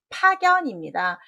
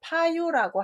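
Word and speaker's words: 派遣: 답은 파견입니다. 보낼 유처럼 보여서 남길 유처럼 보여서 파유라고 할 수 있는데요. 그러려면 아래가 조개패가 되어야 됩니다.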